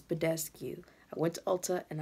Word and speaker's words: Badescu: It's Badescu.